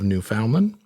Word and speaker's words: Newfoundland: in the province of New Foundland or Newfoundland, however you want to pronounce that, and it ends somewhere around like central Alabama area.